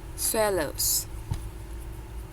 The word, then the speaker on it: swallows: Jadi kalau misalnya ada beberapa kata yang hampir sama bunyinya, swallows. Yes, swallows. Bukan Mbak, bukan swa tapi swe.